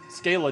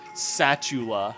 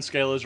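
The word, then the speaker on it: Schala: overanalyzing I guess so Scala don't do it my girlfriend says satula somehow or another she gets satula out of that huh when she pronounces scala's name she says satula wait who who says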